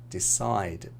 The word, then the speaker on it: decide: So most two-syllable verbs have the stress on the last syllable. Present, export, decide, begin.